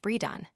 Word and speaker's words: Bredon: One pronounced Bredon.